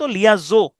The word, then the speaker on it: liaison: তাহলে দেখেন লিয়াজো, উচ্চারণটা হচ্ছে মূলত লিয়াজো, ঠিক আছে?